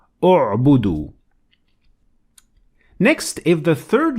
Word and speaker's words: اعبدوا: But when I started at it, I pronounced Hamzat Wasl and I added Dhamma on top of it because the third letter,